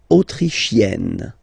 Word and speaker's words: autrichienne: L'Autriche, autrichien, autrichienne. So same thing here. You get and then double N. You open the autrichienne.